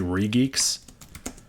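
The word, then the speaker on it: regex: to pronounce it it's actually uh I've been pronouncing it wrong it's actually reeks it's unreachable not a fun oh it's a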